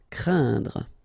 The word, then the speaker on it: craindre: because you've got this combination of letters, so A, E, and then N, okay, so it will be a nasal as well, and then it will be pronounced like un, so keep in mind that it goes in your nose, so you don't hear any N when I pronounce it, and then C plus R will produce the sound cr, crain, craindre.